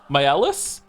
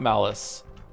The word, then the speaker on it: Maelis: By the way, my name is pronounced same as Mael, but with a different ending. They are Maelis?